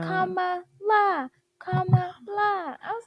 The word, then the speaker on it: Kamala: They were like, Kamala, Kamala.